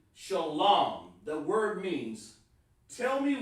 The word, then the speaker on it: shalom: the the fake camps they add a wah and they get that from the yiddish the messed up uh discombobulation of their version of how to pronounce it but the word is shalom type in the chat